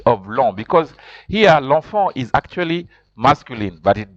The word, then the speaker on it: l'enfant: see there it's written l'enfant. L'enfant, you pronounce like that. En is pronounced en. En is also pronounced en. That's why you say l'enfant.